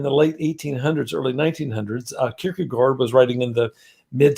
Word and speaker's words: Kierkegaard: It looks like Kierkegaard, but the Danes pronounce it Kierkegaard, so take your pick, but it doesn't matter.